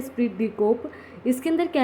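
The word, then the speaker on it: esprit de corps: इसके अंदर साइलेंट है, स्प्रिट डी कोप।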